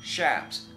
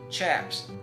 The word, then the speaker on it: chaps: So I looked into it myself, and it appears that it's probably actually pronounced shaps, which is still very difficult for me to say.